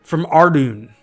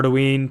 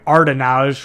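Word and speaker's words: Ardougne: I don't know if it's Ardoon or Arduine. People pronounce it differently. When I was a kid, I didn't know how to spell, so I started calling it Ardenage, which is clearly wrong.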